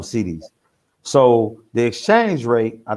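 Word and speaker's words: cedis: okay so the money the money in ghana is called cds so it's like it's spelled c-e-d-i-s they call them cds so the exchange rate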